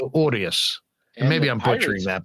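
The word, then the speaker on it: Urías: Urias. You got to roll your R. Urias.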